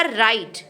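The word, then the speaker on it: write: तो जभी भी आर से पहले डब्ल्यू आएगा तो डब्ल्यू हमेशा साइलेंट होगा। तो पहला शब्द बनेगा राइट।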